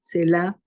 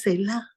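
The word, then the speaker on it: Selah: salmos se ve mucho Esa palabra cela se escribe s e l a H cela Qué significa eso Es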